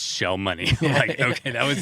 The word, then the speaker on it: Cjell Monē: was like all right let me just make sure this right it's shell money right and he's like yeah don't pay any attention to how it's spelled it's shell money okay that was like